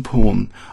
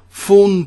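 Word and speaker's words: thorn: um confusion with foror porn I'm not saying F A WN I'm saying t h o r n forn porn forn porn you know it's just uh the th you know it's you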